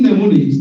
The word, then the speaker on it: mnemonics: In mnemonics, the first letter M is silent.